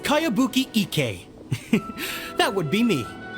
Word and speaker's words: Kayabuki: heard of it by kawabonga icky this is a really strange name who's this Cowabunga it's pronounced kayabuki Ike that would be